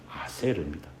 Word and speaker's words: 아세르: 우리말 성경에는 아셀이라고 기록되어 있는데 원래 발음은 아세르입니다.